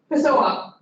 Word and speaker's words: Pessoa: So Igor, that is pronounced Pessoa.